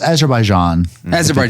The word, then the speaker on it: Azerbaijan: because is there by john how do you pronounce it oh wait is it oh it's azerbaijan okay yeah and uh geography he died october